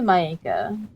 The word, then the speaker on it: Maeka: I'm like, most people will say Maeka, Maeka, Mika, but it's actually Maeka.